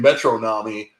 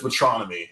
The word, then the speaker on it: Metronomy: wrong my entire life I've been saying metronomy it's metronomy and I only know that because of fantano so shout out to melon it is what it is man metronomy metronomy I mean it's